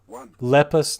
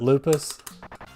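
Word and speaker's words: Rabio Lepus: Lepus, not lupus. Yeah, you're right. It's never lupus.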